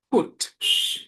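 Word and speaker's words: put: ফুট, এটা পাওনা ফাওনা এর মাঝামাঝি এ থেকে উচ্চারণ হবে ফুট।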